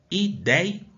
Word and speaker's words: ideia: Ideia. É assim que eu a separo. Aonde que está a sílaba mais forte? No DEI. Eu não falo ideia, eu falo ideia.